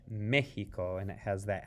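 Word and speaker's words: México: to give it that mexico see the x in spanish in this case is pronounced like like the spanish j or the english h mexico and it has that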